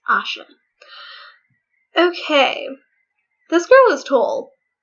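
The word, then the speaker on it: Aisha: a Moodle Asha yes the I is not pronounced it's not I sure it's Asha okay this girl was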